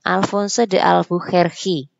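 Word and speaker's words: Afonso de Albuquerque: Yang ketiga, ini yang bacanya Alfonso de Albuquerque.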